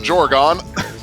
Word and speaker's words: GEOREGON: Meanwhile, GEOREGON, you did pronounce it correctly.